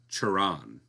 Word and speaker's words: Cioran: Cioran.